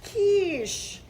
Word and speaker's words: quiche: my stop don't wait oh my God it's pronounced quiche I thought she was saying she wanted a